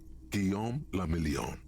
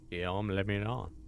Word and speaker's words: Guillaume le Million: Guillaume le Million. Okay. If it doesn't rhyme, you're not pronouncing it right. Ah. Guillaume le Million.